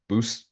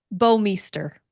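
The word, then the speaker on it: Bouwmeester: It's an interesting spelling, but it's Bowmeister.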